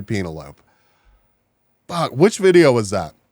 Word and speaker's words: Penelope: being real because of the way that this dude pronounced Penelope. Like Penelope, my guy, you've never seen the name Penelope. No, it's got to be Penelope. You're right. It's absolutely Penelope.